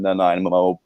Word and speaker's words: Nanaimo: Matthew Wood from the University of Connecticut with 11 goals, 23 assists, and 34 points in 35 games from Nanaimo, BC. Nanaimo? I think that's how you pronounce it.